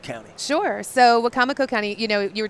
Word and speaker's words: Wicomico: Tell people in Baltimore about Wicomico County. Sure. So Wicomico County, you know, you were talking about being exhausted. I pronounce it wrong.